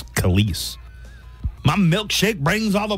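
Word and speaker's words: Kelis: I thought it was Kellis. Honestly, I went this entire time thinking she pronounced her name Kellis. It's Khalees.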